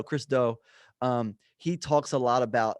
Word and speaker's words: Chris Do: I don't know how to pronounce his last name. It's Do. Chris Do.